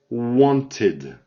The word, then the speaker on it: wanted: Here, this one is a different pronunciation. It's wanted. It's easier. It's like a E. Wanted. Id. Okay?